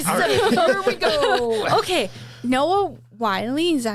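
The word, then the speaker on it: Noah Wyle: okay, Noah Wiley, is that how you say his name?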